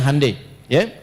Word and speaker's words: Hyundai: Yah Hyundai saya tahu bahasanya dibacanya Hai ya.